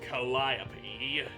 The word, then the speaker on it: Calliope: It's definitely pronounced Calliope.